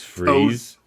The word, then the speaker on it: Fries: e s or i so it looks like fries kind of if you're looking at it but it's like pronounced freeze so yeah well that's